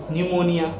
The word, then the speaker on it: pneumonia: PNEUMONIA न्यूमोनिया P silent है, ENVIRONMENTAL environment इसमें ON silent है, GOVERMENT इसमें जो है आपका वो क्या साइलेंट है।